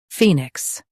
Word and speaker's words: phoenix: Fey, nix, phoenix. Stress fee and keep nix light.